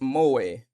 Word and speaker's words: moe: Moi, Japanese pronounced moi, sometimes romanized as moi,